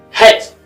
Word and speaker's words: Het: Het is pronounced Het. Het. The C is silent.